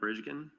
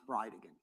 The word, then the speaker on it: Bridegan: It's Jared Gallen Bridgen and I'll represent to you that it's pronounced Bride again.